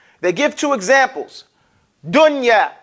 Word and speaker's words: dunya: You pronounce that noon like idhar. Clearly and independent. You don't mix it. Okay? You don't mix the sound. They give two examples. Dunya.